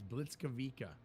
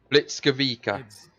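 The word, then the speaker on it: Błyskawica: I i' I've listened to it is it's Blitz kavika Blitz kavika Blitz kavika that is how you pronounce it the most powerful destroyer of her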